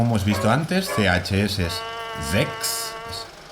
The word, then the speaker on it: Sechs: Las S a principio de palabra ante una vocal son S sonoras. Z. Sechs. Aunque si no la hacéis tampoco importa demasiado. Las consonantes CHS seguidas se pronuncian como si fuese una KS. X.